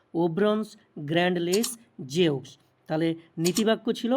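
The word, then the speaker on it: Ouvrons grand les Jeux: মোটো ছিল games wide open যেটা ফ্রেঞ্চে যার উচ্চারণ এরকম ঠিক ওভব্রন্নস গ্র্যান্ড লেস জেউক্স ওভব্রনস গ্র্যান্ড লেস জেক্স তাহলে নীতিবাক্য ছিল বা মোটো ছিল গেমস ওয়াইড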